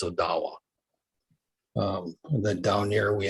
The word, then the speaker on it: Odawa: because of the uh the a used to be pronounced as odawe because that's what it was but then uh it became anglicized as odawa and then down here